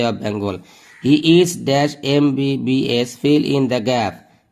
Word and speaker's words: MBBS: He is dash MBBS. Fill in the gap. N. He is an MBBS. এখানে M consonant থাকা সত্ত্বেও M ভাওয়ালের মতো উচ্চারণ হওয়ার কারণে N হয়েছে।